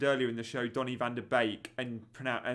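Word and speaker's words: van de Beek: van der Beek and said Bake as Bake, which is absolutely correct. So again, the Dutch link perhaps got you there because so many say van der Beek, and it grinds on our Dutch friend in the Pentagon mini league with Toby and I, who watches the FPL show, and every time I said van der Beek, he'd WhatsApp me going, "Stop saying van der Beek."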